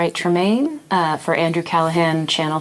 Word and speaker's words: Callaghan: Uh, could you please just say your name and spell it for the record? Sure. My name is Andrew Callahan.